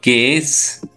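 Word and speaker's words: Käse: जैसे कि हम देखेंगे यहां पे है केस। दोस्तों हमें पता है कि एस का प्रोनाउंसिएशन जेड जैसा करना है तो उसका यहां पे के ए उमलाउड एस एस ई का प्रोनाउंसिएशन होता है केस केस का मतलब होता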